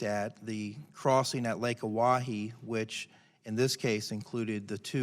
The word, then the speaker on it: Oahe: Is it Oahu? Is that how you say it? Oahu? Lake Oahe?